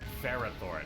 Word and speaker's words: Ferrothorn: straight for this video we're going with how most fans pronounce it which is ferrothorne not for raw Thor whoa all right here